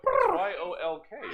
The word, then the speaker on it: yolk: yes I'm with you y-o-l-k yeah oh it's like the B and lamb I'm a terrible speller and I've even got it alien lamb Thailand I love silent letters all right so we've